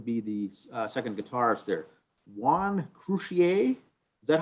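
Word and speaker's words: Juan Croucier: Juan Crucier, is that how you pronounce it?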